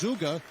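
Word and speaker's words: Zugge: blocker I had him pronounced his name because it's spelled Zu gge the other day he said it's zuga and one of the Middleton assistant coaches says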